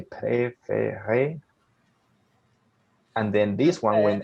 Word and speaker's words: préféré: And that means that it's way easier to pronounce it. So for example, you say préféré, and then this one, when an S and T are together, you ignore S and T.